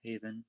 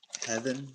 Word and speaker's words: Haven: My name is Haven. It's nice to meet you. I I almost mispronounced it. I was going to say like um Heaven, but I I wasn't sure if it was Haven or heaven.